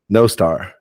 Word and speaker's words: Nostr: Another thing is I didn't know how to properly say Noster is how you say it? Or Nostra? Nostra? Star. No star. Okay. No, as in no star.